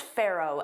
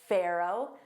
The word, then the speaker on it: Pharaoh: Did you notice I said Pharaoh? Pharaoh. So, that ph is pronounced as an F.